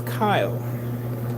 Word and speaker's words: Kyle: Luke, my name is Kyle. K Y L E the E is silent.